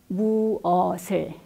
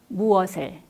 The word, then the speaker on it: 무엇을: Here, 무엇 is followed by 을, which starts with a vowel, and the final consonant 시옷 in 무엇 carries over to the next syllable 을, where it is pronounced altogether as 무엇을, 무엇을.